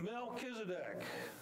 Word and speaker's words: Melchizedek: I've heard it slaughtered a many times it's pronounced Mel kedc can you say it with me meled congratulations you've just said your first Mesopotamian word melchisedec is mentioned by the author of Hebrews nine